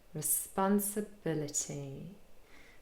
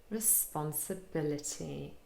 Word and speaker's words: responsibility: But we also have secondary stress on the 2nd syllable, spun, responsibility. So quite a lot of unstressed syllables, re, se, and t, all containing the short I sound. And then the almost last syllable has a schwa, responsibility.